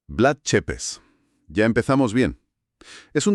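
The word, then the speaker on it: Vlad Țepeș: Porque casi todo el mundo dice Blad Tepes, pero la pronunciación correcta, según le corrigieron al narrador de nuestra fuente, es Blood Chepes. Blood Chepes.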